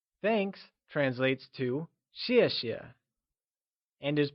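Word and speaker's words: 谢谢: pronunciation tip in peening X is pronounced like she keeping this in mind let's look at the pronunciation of xie xie thanks translates to Xie xiè and is pronounced using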